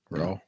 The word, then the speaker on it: Rao: Bills and Rao? How do I pronounce that? How's this spelled? RAO? RAO? Yeah, Raw? Yeah. Rao.